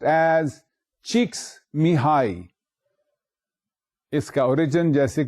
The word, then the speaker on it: Csikszentmihalyi: It is written thus and pronounced as Csikszentmihalyi.